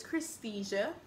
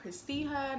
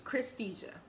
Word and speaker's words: Christesia: If you guys don't know how to pronounce it, my name is Christesia, not Christija, not Christina, not Crystal, or Khadija, or whatever else people come up with. It's Christesia. Simple.